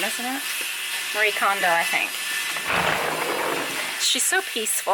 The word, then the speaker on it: Marie Kondo: Marie Kondo, I think.